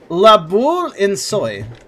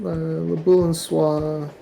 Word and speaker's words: La Boule en Soie: La Boule in Soy. I definitely didn't say that right. Alright, La Boule en Soie. Yeah, that's it.